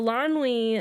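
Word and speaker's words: Eilonwy: But I checked in the pronunciation guide. Yeah. And so Elanwe.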